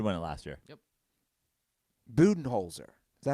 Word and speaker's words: Budenholzer: Budenholzer. Is that how it's pronounced?